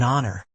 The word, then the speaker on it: honor: Examples: an hour, an honest man, an honor. Even though these words begin with the letter H, the H is silent. So, they begin with a vowel sound and we use an.